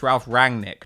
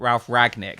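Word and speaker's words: Ralf Rangnick: the way let's because it's Ralph rang Nick not Ralph Rag Nick Hamill does this as well he leaves out this n in Ralph rang Nick's name it makes me furious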